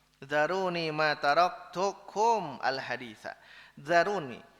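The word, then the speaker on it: ذروني: nabi bersabda zaroni nah kembali ke atas cara bacanya zaroni mata Hai cukum al-haditsah zaroni Tinggalkanlah aku aku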